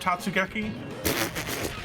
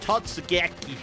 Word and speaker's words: Totsugeki: Is the basket also named Tatsugeki? It's not Tatsu, it's Totsu. Whatever. Or if you say it really bad, Totsugeki.